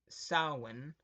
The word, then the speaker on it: Samhain: The origins of Halloween date back to the ancient Celtic festival of Samhain, or pronounced Samhain, the Celts, or Celts, who lived 2,000 years